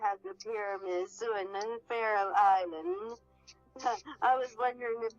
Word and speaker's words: Faroe: It's all different, but pronounced the same.